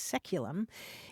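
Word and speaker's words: saeculum: AE c luu m which in English is pronounced seculum it's traditionally understood to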